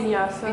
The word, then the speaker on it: vinyasa: So going and doing like some vinyasa, how you pronounce Vinyasa.